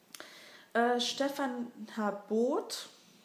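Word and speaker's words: Stephan Harbort: Stefan Harbot. Ist sehr ein Deutscher, also wird er auch deutsch ausgesprochen.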